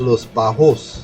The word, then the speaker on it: Los Bajos: Okay, so moving down to the south, past La Brea, or La Brea, as we say here, you have Los Bajos. Correct. Perfect pronunciation.